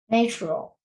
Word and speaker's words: natural: Natural. Natural. Natural. Yeah, not a long A sound. Not not natural. It's na. A short A sound. Natural, like apple, right?